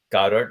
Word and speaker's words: Godard: just just enter interjecting he's saying Jean-Luc uh Goddard am I pronouncing his name incorrectly no no no good